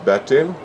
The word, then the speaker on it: Bertil: My name is Bertil, could be pronounced like battle.